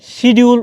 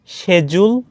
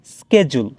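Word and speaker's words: schedule: এই English word টাকে শিডিউল উচ্চারণ করে থাকেন আসলে এটার উচ্চারণ শিডিউল না এটা টোটালি রং এটার ব্রিটিশ ইংলিশে এটার উচ্চারণ হবে শেডিজুল আর আমেরিকান ইংলিশে এটার উচ্চারণ হবে স্কেজুল আসলে আমিও এটার উচ্চারণ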